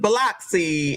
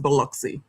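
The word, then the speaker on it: Biloxi: annunciate the word Beluxy cuz I was saying Bloxy and they was looking at me like I was crazy. It's it's pronounced Beluxy.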